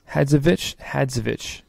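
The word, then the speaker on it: Hadžović: Hadzovic.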